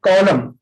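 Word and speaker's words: column: कॉलम, कॉलम तो आप जानते हैं, इसमें एन साइलेंट है।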